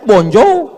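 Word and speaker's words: bonjour: Tulisannya bon jowur. Bacanya bonjou.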